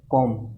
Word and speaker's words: comb: तो COMB इसमें B silent होता है, इसको हम बोलते हैं कॉम।